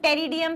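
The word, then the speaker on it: Pteridium: या एग्जांपल क्या है होमोस्पोरस का, इंपॉर्टेंट है, lycopodium and टेरिडियम, P silent है, टेरिडियम।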